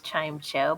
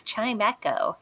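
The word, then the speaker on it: Chimecho: Chimeco, which I always pronounce Chime Cho, but it's Chimeco.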